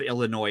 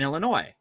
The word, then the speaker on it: Illinois: the same thing in Illinois um so first of all they don't even pronounce the S so there's already a